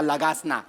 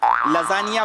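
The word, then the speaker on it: lasagna: लगासना खाऊया लगासना तुमच्या बापाने केला होता लगासना लजानिया बोलता येत नाही स्पेलिंग वाचून लगाना बोलता तुम्ही तुमच्या बापाने केला होता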